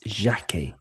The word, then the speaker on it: Jacquet: How would you pronounce his second name? Oh, it's very easy. It's Jacquet.